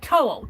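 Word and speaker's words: Towl: that to to to to like toy like toll t o l l toll toll to well good morning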